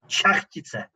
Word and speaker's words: Šachtice: You can see that it is it should be pronounced like Šachtice, but it is just a little bit complicated to pronounce for English-speaking people.